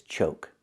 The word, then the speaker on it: choke: And this is choke with a long O sound like coke. Choke.